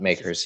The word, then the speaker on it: MKERS: I don't know how you pronounce it. MKers, makers. It's just makers.